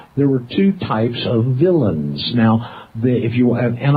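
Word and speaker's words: villein: Law Dictionary it's spelled it has an unusual spelling because it's French in origin but we say it villain it's spelled v i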